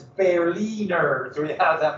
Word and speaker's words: Berliner: a citizen of berlin by the way if you say proper german it's barely nerves so he has that